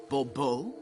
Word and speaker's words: Bobo: fine Monsieur de Bobo the emphasis falls on the last syllable Bobo HM hmm see now